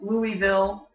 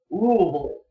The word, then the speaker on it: Louisville: cities in Kentucky however people from Louisville pronounce it rule so if someone's talking